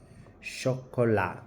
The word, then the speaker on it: chocolat: Chocolat, chocolat. We said, remember, we said some consonants are not pronounced. The T there will not be pronounced.